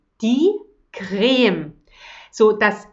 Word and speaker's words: Creme: Die Creme. Die Creme. So das E am Ende ist stumm. The E at the end is silent.